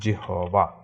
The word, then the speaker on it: জিহ্বা: এরকম আরো কিছু বাংলা উদাহরণ আছে, যেমন জিহবা, জিহবা এর উচ্চারণ হচ্ছে জিহ্বা, জিহ্বা, এরকম উচ্চারণ হবে, বা জিহ্বা, আহ্বান, জিহ্বা।